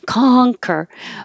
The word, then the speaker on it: conquer: in different writing because the C, is it an S? Is it a K? It's a K. Conquer.